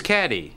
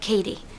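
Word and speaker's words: Cady: Girls her name is caddy caddy Heron where are you caddy that's me it's pronounced like Katie my apologies I have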